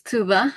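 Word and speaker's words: Tuğba: Hello, my name is Tuba. As you can tell that the G in my name is silent.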